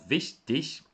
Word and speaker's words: wichtig: Pessoal, a palavra vestig, por mais que a pronúncia seja vestig, ela não termina com CH, tá? Mas sim com um G.